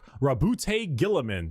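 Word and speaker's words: Roboute Guilliman: Primarch Rabute Gilliman, that's how it's said.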